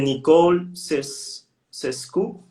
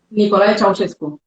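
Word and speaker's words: Nicolae Ceaușescu: De Nicole Cescu. Nicolae Ceausescu. Ah, ok, no lo puedo pronunciar, pero formó parte de la llamada generación del sacrificio.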